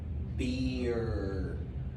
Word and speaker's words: beer: Beer. Beer. Okay? Notice, nota algo. Barba y cerveza se pronuncian casi igual. Barba, beard. Se escribe diferente. Barba, beard, beard. Llega hasta la D. Cerveza, beer, hasta la R.